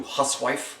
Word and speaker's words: housewife: Toby reassures Andrew about the quality of his hair, noting that he’d like to see a “housewife” (then pronounced something closer to “huswife” which is another term for a prostitute) “take thee between her legs and spin it off.”